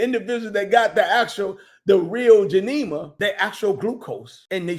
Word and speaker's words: Gymnema: Geneva, G-Y, Neva, Gym, like G-Y-M, Gym, Nema, G-Y-M-N-E-M-A, Gymnema, okay?